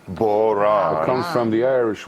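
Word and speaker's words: bodhrán: Help me on the pronunciation of Bowron. boran.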